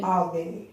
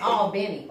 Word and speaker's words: Albany: Tell me the correct way to say the word. It's This Albany, Georgia. Albany, Georgia. Benny. All Benny.